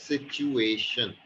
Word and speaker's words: situation: That was situation. Okay. Situation. Not sir, sure. Situation. Situation. Shun.